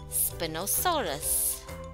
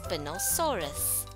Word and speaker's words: Spinosaurus: Spinosaurus. Let's pronounce Spinosaurus.